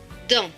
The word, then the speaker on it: dans: AN se prononce en. Donc D et en, dans. Et le S à la fin est écrit en bleu, donc il ne se prononce pas.